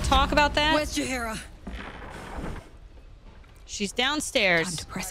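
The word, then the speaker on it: Jaheira: It's Jahira.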